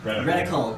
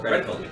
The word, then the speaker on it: reticle: I'm sorry, give me the pronunciation again. Reticle. Reticle.